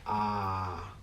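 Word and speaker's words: ㅏ: a and this configuration this character here is pronounced as a in father ah ah okay and we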